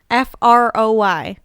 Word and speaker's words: Froy: Froy. Like Troy, but with an F.